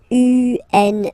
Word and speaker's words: une: Then the feminine article is here, and it's easier because if you have this U-N-E, then you pronounce it une.